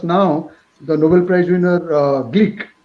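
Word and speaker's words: Glück: the nobel prize winner gleek not glock the pronunciation is greek like i translated her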